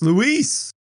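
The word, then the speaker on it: Luis: It's not Louis at all. It's Louise.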